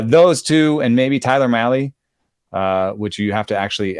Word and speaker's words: Mahle: Those two, and maybe Tyler Mahle, which you have to actually emphasize the whiteness when you say. Mahle, like rally, it says on the pronunciation guide.